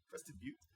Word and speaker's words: Crested Butte: If she hears this, she'll say, Ian, you said it right, Crested Butte.